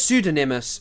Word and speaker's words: pseudonymous: from a sudin pseudonymous, I know it's pseudonymous. Pseudonymous. Yeah, that's how you say it.